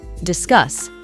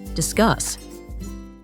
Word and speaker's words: discuss: afternoon it's noteworthy that both the s's are pronounced as the S sound discuss and the is also stressed on the second syllable discuss let's discuss let's discuss